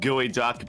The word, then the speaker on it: geoduck: At least no one's a gooey duck. A what duck? You mean a guck? A what? A what? It's spelled geoduck, but it's pronounced gooey duck.